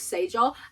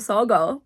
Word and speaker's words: saga: saga or sager, and we're gonna pretend that I always knew it was a saga, because obviously.